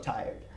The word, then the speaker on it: tired: There's a word that I always hear incorrectly pronounced. Okay, it's not tired, it's tired. So we take tire when you're cansado, right? And what we're going to do is just simply add a D.